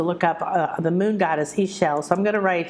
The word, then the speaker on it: Ixchel: up the moon goddess Ishel. So I'm going to write here um, how it's spelled. There you go. It's Ixchel. And X in Mayan is pronounced sh, like sh. Ishel, Ishel.